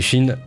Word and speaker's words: qi: Ça se prononce chi, mais moi je dirais qui parce que j'ai la flemme.